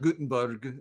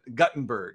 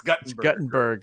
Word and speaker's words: Guttenberg: okay uh you know good little town of guttenberg right not gutenberg but guttenberg if you're from iowa you got to pronounce it correctly it's guttenberg are there two t's in it uh just